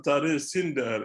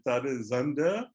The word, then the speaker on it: Zinder: Et comme vous avez eu à constater, très souvent aussi, entre Tare Sinder et Tare Zander, il y a une seule différence dans la prononciation, c'est le S.